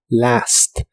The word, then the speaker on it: last: los últimos 10 años la a de la palabra Last se pronuncia con el sonido que es la combinación de la e y la a Last In The Last 10